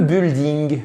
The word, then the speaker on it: building: vous le dire le building le building bah oui tout à fait non absolument pas pourquoi parce que le U ici ne se prononce pas donc je vais même